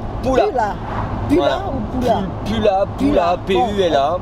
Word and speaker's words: Pula: Pula, P-U-L-A. On prononce comme en français.